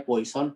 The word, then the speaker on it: Poisson: Tulisannya Poisson, bacanya Poisson karena Poisson itu orang mana kira-kira? Prancis ya, namanya Poisson. Kita biasanya Poisson. Oke, ya nggak apa-apa. Karena kita bukan orang Prancis kan.